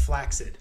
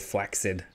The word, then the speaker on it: flaccid: an interview and apparently flaccid it should be pronounced flaccid and so ever since I pronounced it flaccid um and then I also have to he's